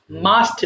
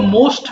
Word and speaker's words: must: ঠিক তেমনি মাস্ট মানে অবশ্যই তোমার সেন্টেন্সে অবশ্যই থাকলে মাস্ট ব্যবহার করতে হবে। ওকে এটা আবার কেউ মোস্ট পড়ো না। অনেকে ভুল করে মোস্ট উচ্চারণ করে ফেলে। হ্যা এটা সিম্পল মাস্ট হবে।